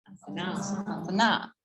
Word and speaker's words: asana: This word gets common, it's mispronounced often. It's asana, asana. Okay, so we've got the long A and then the 2 short A's that follow, okay?